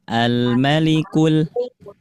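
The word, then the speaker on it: الملك: Almalikul linya pendek. Almalikul almalikul Aduh.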